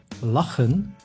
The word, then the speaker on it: lachen: C plus H makes G, same sound as the letter G, like in lachen, which means to laugh.